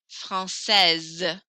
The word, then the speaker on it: française: Français, no S, français. Française, I hear the S very strongly there.